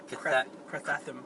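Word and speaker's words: Karathen: It's not Kraken. It's Crathathum. Crathathum.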